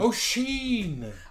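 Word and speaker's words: Oisín: i pronounce this name oh sheen oh sheen is in uh it's an irish name it's like one of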